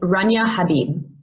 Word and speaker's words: Rania Habib: Rania Habibi. Uh, Dr. Habibi, thank you again and welcome. Sorry, it's pronounced Rania Habib.